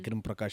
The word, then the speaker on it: Agrim Prakash: And I've worked front desk at a hotel, and it's really fun because first of all, nobody can pronounce my name, right? My name is Mm. Agrim Prakash.